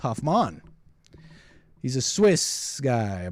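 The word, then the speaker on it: Hofmann: uh by some scientists okay it's a Albert Hoffmann Hoffman no it's actually pronounced Hoffman he's a Swiss guy I believe yeah Swiss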